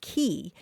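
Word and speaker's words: quay: spelled quu a y is usually pronounced key it came into English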